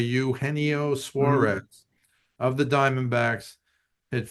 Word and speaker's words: Eugenio: But yeah, this I'm trying to pronounce his name correctly because it looks like Eugenio to me, but it's a Uhennio Suarez of the Diamondbacks.